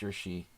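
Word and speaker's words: Jiri: I think I might have had this game with white against Yuri. How do you say the Czech name? J-I-R-I. Yuri.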